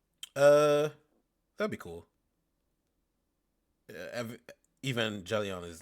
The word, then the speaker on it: Evangelion: Um, a new Evangelion. And I'm I'm thankful that you taught me how to finally pronounce that. I've been pronouncing as Evangeline since I was like 11. Um, a new Evangelian anime is in production